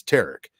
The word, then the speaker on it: Tarik: pronounce his name correctly because it's Tarik and that's Derek. And I can't believe that a man that spells his name Tarik sounds like my name.